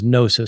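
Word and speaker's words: gnosis: the Greek word for knowledge is nosis spelled with a G um g n o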